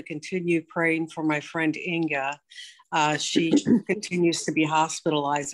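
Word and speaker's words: Inge: Inga. She spells it I-N-G-E, but it's actually pronounced Inga, as if that there's an A at the end.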